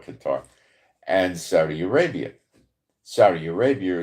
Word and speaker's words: Qatar: I think it's pronounced Kada, but we'll call it Qatar.